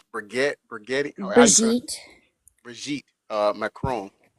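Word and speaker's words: Brigitte: Cuz I said Bridget and that's not it. It's Briette.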